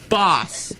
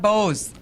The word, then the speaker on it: Bos: out today it's actually Bose is correct if you're saying the Dutch pronunciation.